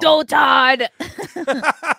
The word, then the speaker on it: dotard: Dotard! Which, by the way, is not a word. It's dotard. It's how you pronounce it.